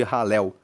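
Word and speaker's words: Hallel: que nós falamos que são os salmos de ralel. Ralel se escreve H a L e L e significa louvar a Deus.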